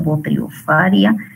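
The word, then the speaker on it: Botryosphaeria: Muy bien, está el chancros también en rama de manzana, ocasionado por Potriofaria especie. Les había explicado que cuando va pH, ¿verdad? Se pronuncia como F.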